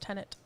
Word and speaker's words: Tenet: um that's like uh because technically the word is pronounced tenet venom uh symbiote symbiote